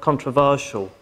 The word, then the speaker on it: controversial: Where's the main stress in the word controversial? Right? Because as far as I remember, we've got two pronunciations of controversy. You can also say controversy, you can say controversy. But controversial is the third syllable.